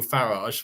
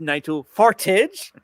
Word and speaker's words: Farage: got people like Nigel farage waiting in the wings waiting no no no his name is n his name is pronounced n forage um that's so so